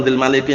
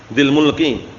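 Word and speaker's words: ذي الملك: Ini yang tepat bacanya bukan dil maliki, yang tepat itu dil mulki.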